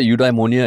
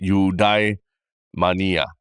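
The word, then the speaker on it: eudaimonia: fictional country where isopan I thought udonia is like where everybody wants to die no no no no it's not there I know it sounds like you the pronunciation I realized is udai Mania basically UD Mania simple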